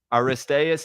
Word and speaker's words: Aristaeus: Uh, this episode is about Aristas.